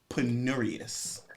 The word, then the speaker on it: penurious: week and today's word of the week is penurious all right like that penuus is an adjective and it's spelled p n u r i o us